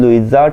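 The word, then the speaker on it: Louisa: तो यहाँ पर इसको प्रोनाउंसिएशन देख लीजिएगा, एलन लुइजा टकर, लुइजा ही है वैसे, ठीक है, लुइजा।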